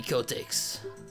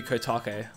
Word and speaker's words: Kotake: Ah, that color, that smell, that's definitely Kotex. I actually think it's meant to be Kotake, like Japanese pronunciation, but which makes a lot more sense when I think about it.